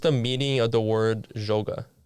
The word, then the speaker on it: Joga: I heard a lot of people say like yoga or like stuff like that, and it gets funny, but that's not what it means. So you pronounce it Joga, okay?